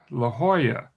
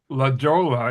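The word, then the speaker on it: La Jolla: And one of them down south near San Diego is La Hoya. It's spelled L A space J O L L A. And in Spanish, the J is pronounced sometimes like an H.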